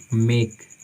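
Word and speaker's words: make: Last में आता है, मोस्टली वर्ड में ई आता है तो हम उसका उच्चारण नहीं करते हैं, वो साइलेंट होती है। जैसे मान लीजिए मेक, MEKE, तो इसमें हम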